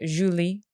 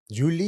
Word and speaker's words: Julee: My mother's French Canadian. They say Julie. Julie. Julie. Yes. It's very beautiful. America. I'm just Julie, but it's uh What's your maiden name?